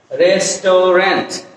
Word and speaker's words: restaurant: এখানে আমরা আমি বলছি যে আনস্ট্রেস ভাওয়েলগুলো আমাদেরকে ড্রপ করে দাও। আনস্ট্রেস ভাওয়েলগুলোকে আমাদের ফেলে দিতে হবে।